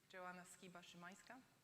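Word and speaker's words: Joanna Szymańska: Maybe I will try to pronounce the name properly. It's Joanna Szymanska.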